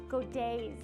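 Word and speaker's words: godet: this little um black dress has what's called godays in it and i'm going to show you here what a go day is so this dress has what's called a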